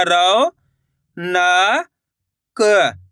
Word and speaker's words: रौनक: दोस्तों इसी तरीके से पढ़ना है आपको औ का उच्चारण निकाल के। ऐसे नहीं पढ़ना रौनक। रौनक पढ़ोगे तो ओ की मात्रा का उच्चारण हो जाएगा। अपन कैसे पढ़ेंगे? रौनक यानी कि औ करके उच्चारण निकालेंगे।